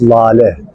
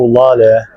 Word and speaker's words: lale: The tulip, in Turkish we call tulips lale. The word of lale, let me spell it for you, L-A-L-E.